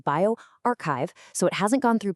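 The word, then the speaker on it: bioRxiv: Now, it's a pre-print on bioarchchive, and remember that's pronounced bioarchchive, so it hasn't gone through peer review just yet.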